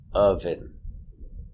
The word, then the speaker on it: oven: a symbol of peace another example of the sound uh oven relax sound uh uh oven oven I'm making bread in the